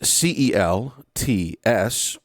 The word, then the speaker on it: Celts: So in English, it is Celts, and yet it's a hard C, or the K sound.